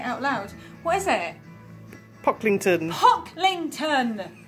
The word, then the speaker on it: Pocklington: I have had the most lovely time at Pilkington, Hawkington, Linkington. I've had a really lovely time here, and I obviously know exactly how to pronounce it, but being dyslexic, I can read